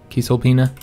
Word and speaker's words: Cisalpina: Gaul, or Cisalpina Gaul, because remember that C I think is supposed to make that K sound, so I guess the correct pronunciation would be like Cisalpina.